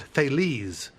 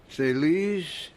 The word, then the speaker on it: Thales: If I pronounce it Thales, does that stir your memory? Should it? Yes. Thales?